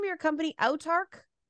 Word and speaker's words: Autarch: time or check out uh how do you pronounce the name of your company outtarc I'll talk I'll talk check out all Turk on drive through RPG